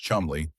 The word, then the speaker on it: Cholmondeley: That's when two men, Charles Cholmondeley, pronounced Chumley, and Ewen Montagu, decided to actually make it happen.